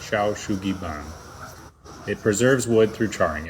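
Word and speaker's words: 焼杉板: Now, the Japanese have a method dating back to the 18th century called what I believe is pronounced Shou Sugi Ban.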